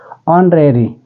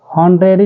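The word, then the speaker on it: honorary: से यूज कर पाएंगे इसको आप हॉनरेरी नहीं पढ़ेंगे ऑरेरी है जिसमें एच साइलेंट है और एच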